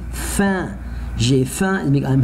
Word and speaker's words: faim: one in French, together, the last three letters, together, I say it like number one, and, so I say faim.